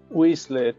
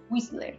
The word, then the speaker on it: Whistler: Cuéntame un poco de Whistler, ¿cómo se pronuncia? Whistler. Whistler.